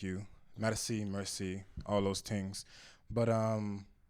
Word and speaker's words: Mercii: know cool beans so my name is pronounced mercy medicine uh it's french for a thank you medicine mercy all those things but